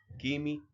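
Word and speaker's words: ⲭⲏⲙⲓ: طيب لو الكلمة أصلها قبطي بننطقه كاف دايما زي كلمة كيمي مصر.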